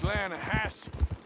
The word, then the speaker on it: Lanahatchee: Yeah, but it's pronounced Lanahassee. Why is everything in English said differently than it's written?